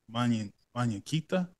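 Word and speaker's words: Muñequita: Kelly Unchez, Mañaquita. That's how you say it. It means little doll in Spanish.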